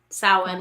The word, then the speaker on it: Samhain: Samhain, that's it.